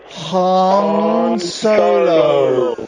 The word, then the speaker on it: Han Solo: Han Solo.